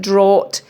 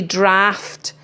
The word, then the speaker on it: draught: with a ugh t isn't draught it's actually draft and then we've got